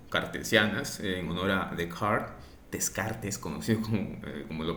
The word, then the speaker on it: Descartes: Si hablamos del vector posición, la posición de una partícula, por ejemplo, en coordenadas rectangulares o cartesianas, en honor a Descartes, conocido como lo pronunciamos, Descartes, en francés me parece que es Descartes, en coordenadas rectangulares, está dada por tres números.